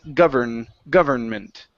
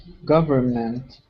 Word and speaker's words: government: Now in this word here, we do need to pronounce that N. Okay, it's government. Okay, government.